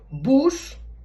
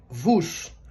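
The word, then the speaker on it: βους: modificou então por exemplo bus não é hoje se pronuncia vus ou seja houve uma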